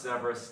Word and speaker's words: Saihbreas: It's pronounced Severus. It's spelled Saihbreas. It's an Irish word, and he has been very graciously helping me really refine and perfect the audio-visual setup of my streams.